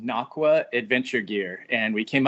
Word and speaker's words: Nocqua: you very much for having us um it's pronounced nachwa adventure gear and we came up with that